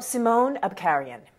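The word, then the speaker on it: Simon Abkarian: know about the actor and how do you pronounce his name by the way well simone Abkhazian is his name and she had worked with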